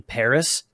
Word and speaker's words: Paris: she's not french because she's pronouncing the s in paris yeah which a french person would never do no sandra right what